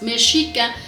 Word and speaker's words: Mexica: Entonces, meica es el nombre correcto de este grupo. Obviamente para un extranjero que no sabe la pronunciación del nagatle, pues es más fácil, ¿verdad? decir, por ejemplo, en inglés que Mexica, mexica, cóo, pero un